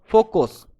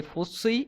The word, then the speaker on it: FOCI: That is called your फोकस. Okay. And FOCI, फोसी या फिर फोकी, जो भी तुम प्रोनाउंस करो, that is the plural form of this फोकस.